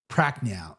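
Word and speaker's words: Prachnio: Practical.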